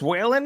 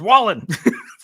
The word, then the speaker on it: Whalen: And then insult her, be like, hi, is this Whalen? She's like, it's Wallen.